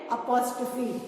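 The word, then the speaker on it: apostrophe: comma बनाया बट इसको हम कॉमा नहीं बोलते हैं अगर आप कॉमा बोलोगे तो गलत हो जाएगा shape is exactly same that of अ comma but हम इसको क्या बोलते हैं अपोस्ट फी and spelling is ए पी ओ एस टी आर ओ पी एच ई अपोस्ट फी क्या बोलते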